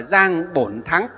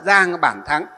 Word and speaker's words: Giang Bản Thắng: sĩ Giang Bản Thắng, ở tiếng miền Nam gọi là Giang Bổn Thắng, miền Bắc chúng ta đọc là Giang Bản Thắng.